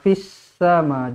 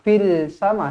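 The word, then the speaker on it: في السماء: bertanda bertanda sabdu jadi alif lam syamsiah eh jadi bacanya Ma fissama jangan baca Ma Fil sama salah salah ada sabdu Jadi kita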